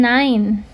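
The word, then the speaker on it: nein: Kemudian nine. Nah, kalau kalau dalam bahasa Jerman E ketemu I jadinya A I nine kayak gitu.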